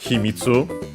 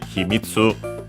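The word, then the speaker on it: 秘密: the tanuki suit uh It's a hitsu and I think no it's actually himitsu an accent.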